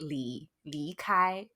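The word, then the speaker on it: 离开: Which is pronounced li kai.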